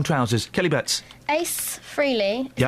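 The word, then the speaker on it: Frehley: Kelly Betts, Ace Freely, is how you say his name.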